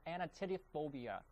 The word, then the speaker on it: anatidophobia: The correct answer is A, of course, and it's pronounced anatidophobia.